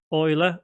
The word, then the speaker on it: Euler: Dot Euler or Euler angles. It depends on your pronunciation here, but it's spelled E-U-L-E-R.